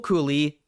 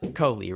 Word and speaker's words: Kohli: Like, can I just say, Rahul Cooley, not Cooley, I fucked that up. Coley, right? It's Coley. I could be wrong, but I'm pretty sure it's Coley.